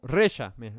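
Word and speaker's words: רֶשַׁע: en la maldad es o reza mejor porque tiene acento en la en la e reza significa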